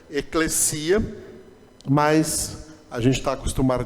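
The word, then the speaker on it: ἐκκλησία: você já ouviram pessoas Eclésia Eclésia é uma pronúncia errada tá a pronúncia correta eclecia mas a gente está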